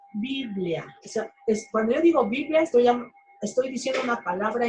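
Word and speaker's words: βιβλία: biblia viene de la palabra griega que se pronuncia biblia es una palabra y así decían viven así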